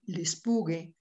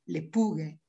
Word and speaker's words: Lespugue: Y allá, aquí tenéis la así llamada también Venus de Lespugue, Lepugue, pronunciado en francés por el nombre de esta localidad francesa.